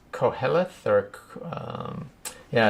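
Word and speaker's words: Qoheleth: himself that's for sure how do you pronounce q o h e l oh yeah uh i think it's co-helith or um yeah it's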